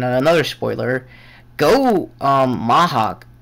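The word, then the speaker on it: Mach: another spoiler go um Mahaw sorry that's how they pronounce him in Japanese um stays dead in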